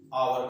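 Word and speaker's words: hour: जैसे हमने लिखा आवर, अब एच जो है वो आप कॉन्सोनेंट है, लेकिन इसका जो प्रोनाउंसिएशन करते हैं आवर करते हैं।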